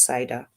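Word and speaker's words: CIDR: your CER blocks right C is actually an acronym we're also going to look at it in the slides today but pronounce cider so you have your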